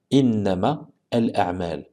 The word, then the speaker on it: إنما الأعمال: Donc on ne prononcera pas le alif ici. On ne fera pas la prolongation. Et donc on dira innama al-a'mal.